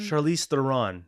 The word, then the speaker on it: Charlize Theron: That's how you pronounce her name, right? Charlize Theron? Charlize Theron.